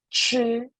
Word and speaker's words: 吃: Okay, ch pronounced as 吃. 吃. So you retreat your tongue a little bit.